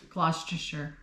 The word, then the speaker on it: Gloucestershire: Yeah, she was born in Yate, and I have no idea how to pronounce this one. Gloucestershire.